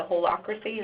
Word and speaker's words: holacracy: They want to feel as if, the idea that you mentioned on the previous slide, the holacracy, is that how you pronounced it, Pat? No, you got it, you're right.